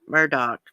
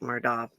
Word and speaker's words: Murdaugh: of shooting alex at murdoch i can't believe that that name's pronounced that way it sounds like murdoch but i reckon it's murdoch he's been arrested again